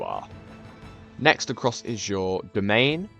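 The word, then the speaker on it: demesne: Next across is your domain. It's spelt weird. It's pronounced like, it's basically pronounced the same as domain, and this is how many counties you personally hold.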